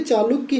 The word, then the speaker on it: चालुक्य: चालुक्य हैं, ठीक है, जो दक्षिण के चालुक्य हैं उन्हें चालुक्य बोला जाता है और जो गुजरात के हैं इनको चौलुक्य। ठीक है, मतलब चौ से उच्चारण हो रहा है।